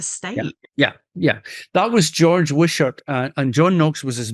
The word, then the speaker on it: Wishart: And I think I was listening to an account of someone called Wishart. Was he quite a significant? George Wishart, yeah. Wishart. Okay, sorry, my pronunciation.